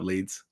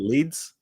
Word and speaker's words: Lee: So hey, what's up, Leeds? Is that how you say it, Leeds? No, it's Lee. That's just Lee.